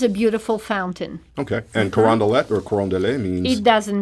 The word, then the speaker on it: Carondelet: So they might have kind of a normal struggle with anybody from anywhere trying to pronounce any of the names of some of these streets. Carondelet. Carondelet. Carondelet.